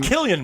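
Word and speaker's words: Cillian: i think around season three okay and i'm killian murphy killian murphy yeah they don't do that but they pronounce it it sounds poor spelled with this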